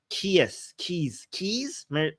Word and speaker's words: Keyes: I suck at pronunciations of of some words that are not often used as well, right? Keys.